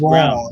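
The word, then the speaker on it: Braun: Uh, so they say it's pronounced brown. Like even though it's spelled like bronze. Yeah, it's it's pronounced like brown but it's brown.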